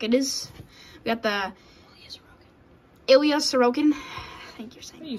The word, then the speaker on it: Ilya Sorokin: We got the Ilya Sorokin.